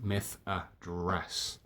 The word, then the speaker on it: Methadras: Methadras, as it's pronounced, Methadras.